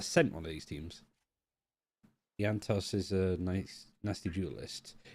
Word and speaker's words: iantos: kill Joy that's just it's pronounced yanto okay I had a